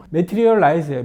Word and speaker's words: 머티리얼라이즈: 회사가 트라이즈 메테리얼라이즈 회사예요 아 꾸 발음이 말리는데 머티리얼라이즈 어디서 많이 들어본 회사